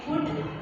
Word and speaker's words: could: In second, could, L is silent letter.